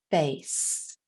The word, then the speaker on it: face: Ace, and the E is silent. But the E makes that long A sound. Ace, face. It is the same as nose. Nose. Nose. So face and nose both have a silent E.